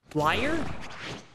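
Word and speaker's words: lyre: is it always liar it's it's spelled weird but it's pronounced liar you know what i'm trying to say l-y-r-e liar layer captions please oh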